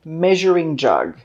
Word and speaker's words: measuring: This is a measuring jug, measuring jug. The S in this word is pronounced the same as in the word television.